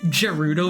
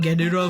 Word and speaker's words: Gerudo: For the longest time, up until this year I pronounced it Gerudo Valley and not Gerudo Valley.